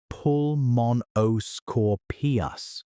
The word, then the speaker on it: Pulmonoscorpius: There's Pulmonoscorpius, pronounced Pulmonoscorpius, a scorpion, about 28 inches long, roughly the